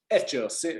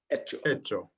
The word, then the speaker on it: hecho: Hecho, yeah, the H is silent. Hecho.